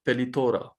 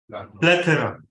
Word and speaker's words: plethora: According to DTM Sarfaraz, how can we pronounce the word Pelithora? Plethora.